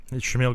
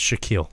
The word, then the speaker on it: Shaquille: how he actually did shamil Griffin a day I think I said his name wrong it's Shaquille Shaquille hey man hey have